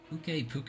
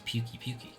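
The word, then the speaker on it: Pukei-Pukei: Puke is how they pronounce it. Once the camp is set up, you can go after that Puke. I wonder where the resource center is. I thought it was Pukey, because he pukes.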